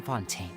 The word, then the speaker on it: Fontaine: members here lady arino herself included are from Fontaine that's how you say it we won't give